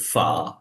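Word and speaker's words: ف: হচ্ছে ফ এর মতো বাংলা যে ফ উচ্চারণ করি সে ফ এর মত ফা ফা আমাদের যে দুই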